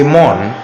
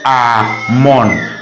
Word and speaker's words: Amon: Their God's name is spelled A-M-O-N. But they don't say Amon, they say Amon. They pronounce the A as it should be pronounced.